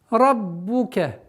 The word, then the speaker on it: رَبُّكَ: Раббука. Здесь, как мы говорили, ра твердая, но при произношении огласовки дамма нужно быть максимально внимательным, чтобы не переходило в звук о.